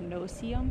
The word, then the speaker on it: no-see-um: So if you're not from Florida and you are not aware of what a no-see-um is, it's no-see-um. That's how it's spelled.